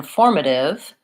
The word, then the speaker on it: formative: the route is so for formative my stress is on form but in communicative to